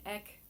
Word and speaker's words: Eck: now the designer says it's pronounced ek like deck without the d but i can't help